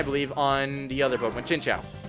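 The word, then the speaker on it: Chinchou: on the other Pokemon chincha or chincho chincha actually is the prop pronunciation or pronunciation I said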